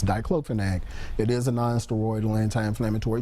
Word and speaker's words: diclofenac: I can't even pronounce the name. But the spelling of it okay. is DICLOFENAC.